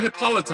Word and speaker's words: Hippolyta: Hippolyta. Take two. Second syllable always.